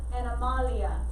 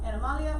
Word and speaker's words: animalia: Just make a note, Latin pronunciation for it. Then the other one, animalia. So, animalia, or as your book says it, animalia, just make a note for it.